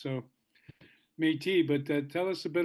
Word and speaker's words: Métis: And, you know, people in America might say Métis, not knowing that it's kind of a French word where the last letter isn't always pronounced. So Métis, but tell us a